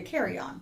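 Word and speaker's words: carrion: decaying animal flesh e so how you say it c a r r i o n oh like a carryon that's the whole time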